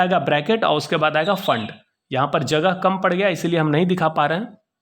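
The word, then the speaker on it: Pfund: नाम है फंड series यह पीस जो है यह साइलेंट है ठीक है तो इसको पी फंड नहीं पढेंगे इसको फंड पढेंगे लाइंस बाद मरीज पार्संस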